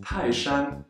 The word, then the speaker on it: 泰山: In Taishan, the first character, Tai, is a fourth tone, and Shan, which we'll use many times today, is a first tone. Together, they are read as Taishan, Taishan.